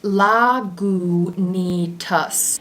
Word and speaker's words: Lagunitas: we drinking today today we are drinking la la gu nitas and i for one am very happy that they put how to pronounce it right on the bottle i used